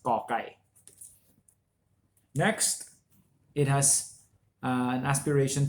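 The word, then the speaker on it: ก ไก่: This one is ka without the H, without any air coming out of your mouth when you pronounce this letter, when you sound this letter. That's ka kai.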